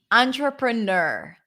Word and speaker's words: entrepreneur: about it tra easy notice the TR right it's a CH sound tra tra traa an tra and then the last syllable could be just like Nur like you're such a nerd ner ner entrepreneur entrepreneur